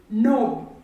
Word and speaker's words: knob: Another word with the k sound is knob. Knob.